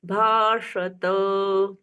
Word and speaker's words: भाषत: पुनरेवा, पुनरेवाभ्य भाषत, श यहाँ पर भी षटकोण वाला श आया। जैसे हमने शेषेण बोला था ना, शेषेण दूसरा श षटकोण वाला, यहाँ पर भी षटकोण वाला श। भाषत, त का पुनः उच्चारण है। पहले वाले श्लोक में हमने हलंत वाला त आधा पढ़ा था, यहाँ पर हलंत नहीं है तो त पूर्ण बोला जाएगा।